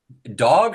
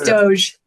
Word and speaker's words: DOGE: I guess is it Dog or Doge? DOGE. It's Doge. Doge. All right. Thank you. I hadn't heard it pronounced yet.